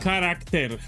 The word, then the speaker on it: character: It's pronounced character.